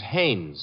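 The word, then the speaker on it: Haines: No, no, no, not Hines. Hannes. Couldn't be. Honeyberg. No, it couldn't be. The name is Hannes.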